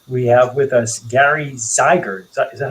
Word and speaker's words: Zeiger: have with us gary zeiger is that how you say your last name zeiger rhymes with tiger rhymes with tigers tiger